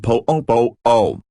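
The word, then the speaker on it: poʻopoʻo: Then there's the word pupu, pronounced po-o-po-o, which is often spelled without the okina apostrophe, so it literally looks like poo-poo.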